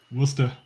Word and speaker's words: Worcester: There's no R in Worcester. No. Except at the end. Worcester. Stop Worcester.